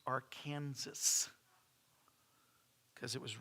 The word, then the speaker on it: Arkansas: I know y'all call it the Arkansas.